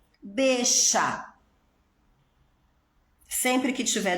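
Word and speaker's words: bella: falei isso para vocês, mas a letra 2 L's na Argentina também tem um som sh. Então, por exemplo, eixa, bexa.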